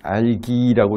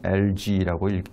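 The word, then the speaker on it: algae: LG라고 부르고 유럽에서는 알기라고 읽는 나라들도 있어요. 알기라고 읽는 나라도 있고 영어에서는 대부분 LG라고 읽습니다.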